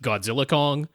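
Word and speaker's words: Godzilla x Kong: the name even though officially they have said you don't pronounce the X in any way in the title it's just Godzilla Kong uh that's dumb I'm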